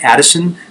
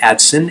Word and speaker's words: Adson: So I, for a very long time, thought these were Addison forceps. They're not Addison forceps, but Adson, A-D-S-O-N.